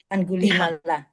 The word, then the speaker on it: Angulimala: I don't know how to pronounce mala. Angulimala. Yeah, Angulimala.